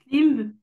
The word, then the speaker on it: limb: Limb, bombe, dumb. Ok, alors là, t'as pas réussi à deviner la petite règle. Oui. On prononce jamais le B à la fin.